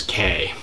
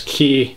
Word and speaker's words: Cay: natives and the tourists based on how they pronounce the word with the taurus mispronouncing the word as k that being said if you do want to pronounce it k i'm pretty sure no people aren't going to have much difficulty understanding what you're talking about so you know don't feel too bad about that but i'll continue to pronounce it as key as in qual kibawa well that's about it